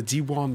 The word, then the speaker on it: Diwan: Did I pronounce that correctly? The Diwan blog.